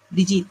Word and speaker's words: Brigitte: La ponente se llama Brigitte, si ¿sí estoy pronunciándolo bien? Brigitte. Brigitte, gracias.